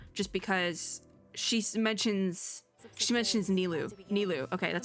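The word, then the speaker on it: Nilou: Nilu. Okay, that's how we're saying it. Sub-Zeros. Okay. Gotta learn the pronunciations.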